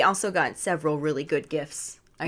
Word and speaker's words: GIF: got several really good gifts I say gifts not gifs yeah because we're Team GIF over here I just keep rolling because you know graphic is in fact a hard G that's right lastly we